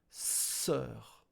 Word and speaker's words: sœur: Sœur. O is silent plus U. Silence as well. So sœur.